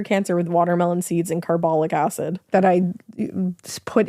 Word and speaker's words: carbolic: I can cure cancer with watermelon seeds and carbolic acid. that I just put into your chest Like, are you okay? with a syringe. yeah. Like, what the fuck? I think I said carbolic.